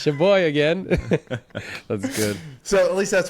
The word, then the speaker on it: Sheboygan: How do you even pronounce that? It's shaboy again.